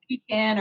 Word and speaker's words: pecan: Pecan or pecan pie.